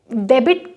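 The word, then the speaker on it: debit: Date में अगर मैं डेबिट कार्ड जो होता है उसमें बी का प्रोनाउंसिएशन होगा, क्योंकि बी के बाद आई आया है।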